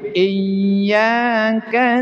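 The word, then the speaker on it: إِيَّاكَ: Innalladzina itu kepanjangan atau iyaka na'budu wa iyaka nasta' itu kepanjangan. Tapi iyyaka na'budu wa iyyaka nasta.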